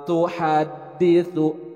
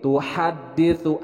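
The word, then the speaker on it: تُحَدِّثُ: Yauma idzin tuhadditsu. Nah, kalau yang ini tuhadditsu, ha bukan ha. Tuhadditsu. Nah, dal bertasydid. Jadi ditekan tuhadditsu. Nah, huruf sa.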